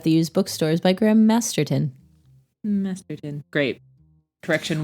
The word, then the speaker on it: Graham Masterton: And I said it was by Graham Masterson. That is not his name, listeners. His name is Graham Masterton. I said his name wrong.